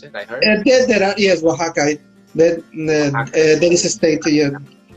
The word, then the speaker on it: Oaxaca: Is that how you pronounce it? I heard. Yes, Oaxaca. There is a state. Yeah. Sometimes I say Oaxaca.